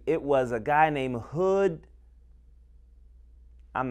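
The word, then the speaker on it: Hud: Center before me, and we call him Brother Hood. It's one of the coolest names, Brotherhood. You know, could be also spelled H-O-O-D, but his name is spelled H-U-D.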